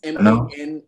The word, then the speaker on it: Manaus: I wanted to go to Manaus as well, which is like near the Amazon rainforest. But... are you pronouncing it? Manaus. So it's Manaus.